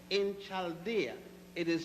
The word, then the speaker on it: Chaldea: Abraham was born in the city of Ur in Chaldea. It is spelled U-R, Ur, and Chaldea is spelled C-H-A-L-D-E-A.